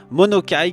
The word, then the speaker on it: Monokai: Monokai qu'on va pouvoir écrire comme ça se prononce, M-O-N-O-K-A-I, et il ressemble à ça.